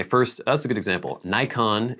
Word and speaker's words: Nikon: Nikon in Japan would be pronounced Nikon, but I'm not going to say Nikon because that would sound weird.